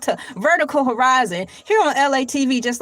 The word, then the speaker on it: Elay: My name is LA. Pronounced like LA. Like the city.